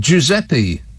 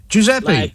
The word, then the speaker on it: Giuseppe: one let's have fun giuseppe and in brackets just for my help and assistance in brackets it's got pronounced jew sep e yeah i know i know that giuseppe uh juice apple juice